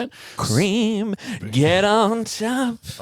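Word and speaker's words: Krem: So, it's a character called Cream. Keram? I can't remember how to pronounce it. Cream, get on top.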